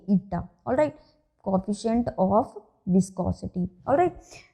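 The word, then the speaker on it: η: Coefficient of viscosity, and it's pronunciation is ईटा, ETA, eta, alright, coefficient of viscosity, alright.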